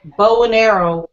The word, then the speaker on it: Bonaire: It took me forever to figure out that bow and arrow was Bonaire, Georgia.